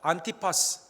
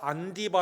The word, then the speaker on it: 안티파스: 헤롯이 아고 불리우는 자가 안티파스 성경에는 순화시켜서 안디바 아고 발음을 하게 되는데 갈릴리 지역의 분보 왕이